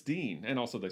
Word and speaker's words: Din: going to be gangadeen it's spelled d-i-n but according to the poem it rhymes with words like queen so it's dean and also they say